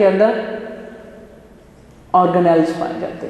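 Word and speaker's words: organelle: यस, इट इज ऑर्गेनेल level. The word is ऑर्गेनेल, ये ज़रा clear कीजिएगा, ये ऑर्गेनेली नहीं है, कोई और इसकी प्रोनाउंसिएशन नहीं है, जस्ट क्या है ऑर्गेनेल।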